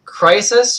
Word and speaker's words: Crysys: So, the band is called Crisis or Crisis. It's spelled really weird.